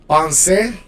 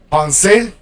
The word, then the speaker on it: penser: the next group here, pensez, to think. You pronounce the e. In French, it's not really like the Spanish e, but it's more like the like a schwa, accented schwa. Penser, demander, all right, to